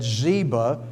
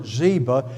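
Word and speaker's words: Ziba: forth between zba and the way I've always heard it Zeba if I do I just look at the spelling and that's probably zba is the way to say that and so there there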